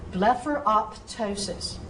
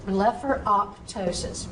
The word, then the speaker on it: blepharoptosis: wants to be heard, so separate the P sound from the T sound. So blepharoptosis, blepharoptosis, that's how I want you to pronounce it.